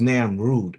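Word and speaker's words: Namrud: While the king Nimrod heard when the king Nimrod or no namroode this one is this is not Nimrod this is Nam Rude according to the way that this is pronounced.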